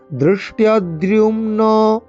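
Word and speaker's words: ধৃষ্টদ্যুম্ন: দৃষ্টদ্যুম্ন দৃষ্টদ্যুম্ন, দৃষ্ট দয়েরই মধ্যনাংশটা হয় মূর্ধা উচ্চারণ করতে হবে, জিভকে উল্টো করে বেঁকিয়ে একদম উপরের অংশে ঠেকিয়ে।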